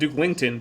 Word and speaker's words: Dukellington: And Dukellington, because you forgot to put in that extra E in your Steam name.